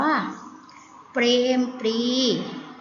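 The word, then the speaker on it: เปรมปรีดิ์: ก็ การ้าน อ่าน ว่า เปรม ปรีดิ์ แม่ ว่า เปรมปรีดี ไม่ ได้ นะ คะ ต้อง อ่าน ว่า เปรม ปรีดิ์ เพราะ ตรง ไหน ที่ มี ตัว การ เรา ไม่ ออก เสียง นะ คะ ต่อ ไป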